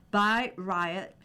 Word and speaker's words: Bayreuth: People have been describing the near-religious acoustic experience of Bayreuth, pronounced by Riot, since its inauguration 150 years ago, this summer with the premiere of Wagner's four-opera epic Der Ring des Nibelungen.